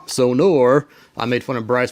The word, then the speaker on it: Sonor: and the sonar kit not sonar sonor I made fun of